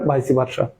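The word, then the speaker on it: vice versa: What is the meaning of the word ভাইসি ভার্সা, এটা ভাইস ভার্সা বলতে পারেন, ভাইসি ভার্সা বলতে পারেন, যেহেতু ল্যাটিন এগুলো এর প্রনাউন্সিয়েশনে এই যে শেষের ইটা উচ্চারিত হয়, আবার ইংলিশ অনুসারে আপনি উচ্চারণ নাও করতে পারেন।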